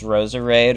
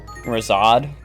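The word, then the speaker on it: Roserade: Dude, never know if it's Roser Raid or Rosad. I I I usually say it as Rose Raid. That's like the easiest way for me to say it.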